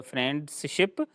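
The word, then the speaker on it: friendship: इज नॉट फ्रेंड एंड फ्रेंड ship दोस्त की कोई शिप नहीं होती है उसमें और यह होता है फ्रेंडशिप फ्रेंडशिप एन के बाद जो डी है दैट इज साइलेंट और उसको आप नहीं पढ़ेंगे उसके बाद विच चच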